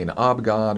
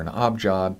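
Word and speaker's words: abjad: because it's actually technically a knob god or a knob job depending on how you pronounce it which is a alphabet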